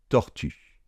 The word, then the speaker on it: tortue: Et j'ai dit que le E final ne se prononçait pas. On a donc le mot tortue.